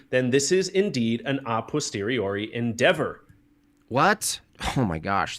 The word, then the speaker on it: a posteriori: Jim Bob, the pronunciation is a posteriori. A posteriori! Sound it out. Attaboy.